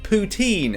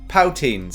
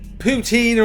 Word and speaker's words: poutine: the informations just dropped I vaguely know how to say the word poutine and I said POW teens so yeah thanks thanks